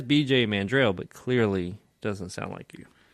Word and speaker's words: Mandrel: Mandrel?